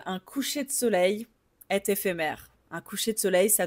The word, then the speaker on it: éphémère: Et le troisème e c'est l'accent ouvert et donc fait mè. Ce mot décrit quelque chose de temporaire qui ne dure pas. Par exemple, un coucher de soleil est éphémère.